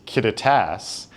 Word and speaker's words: Kittitas: So, the director of the museum has actually informed us the pronunciation is Kittitas and that is named after the native people of this area. And in Kittitas County, we have the Milwaukee line, which is